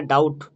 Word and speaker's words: doubt: এখানে ডাউট, DOUBT, be silent.